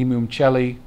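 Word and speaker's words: Imum Coeli: number 4 called also the I see the imam celli i just learned how to pronounce that properly also the nadir okay so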